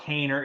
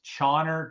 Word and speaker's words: Caner: It's not Kaner. It's Chauner, Chauny. Okay. All right. So it's supposed to be ch instead of ka.